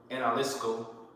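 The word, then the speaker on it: ἀναλίσκω: You know, that word consume here in the Greek is pronounced analisko. Okay, analisko.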